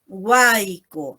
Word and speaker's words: huayco: ¿Cómo lo pronunciamos? Huayco. Esa Y, esa grafía Y, ¿no?, tiene el sonido I, ¿no?